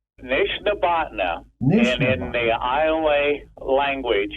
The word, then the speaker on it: Nishnabotna: Something like a Nishabotna or something? Nishnabotna.